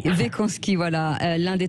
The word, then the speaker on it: Weckonski: Est-ce que je prononce bien votre nom? Oui, bonjour. Bonjour Cécile. Oui, presque. Wekanski. Wekanski, voilà.